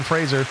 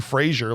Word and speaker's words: Fraser: Well, that means with 5 out of 7 votes, it's going to go to Brendan Fraser. Yeah. Well deserved. Well win. deserved. Rhymes with razor.